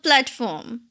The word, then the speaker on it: platform: Just two syllables. Platform. So plat that consonant cluster right there can be problematic. So repeat after me. Platform. Platform. There's a transition between P and L.